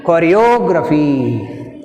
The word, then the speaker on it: choreography: కొరియోగ్రఫీ, జియోగ్రఫీ, biography, choreography, all these are words take stress on the anti-penultimate syllable means the third syllable from the end.